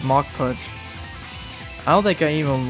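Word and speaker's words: Mach Punch: Even when I was playing Pokemon Ruby and Sapphire back in the day, I would always say match punch instead of mock punch.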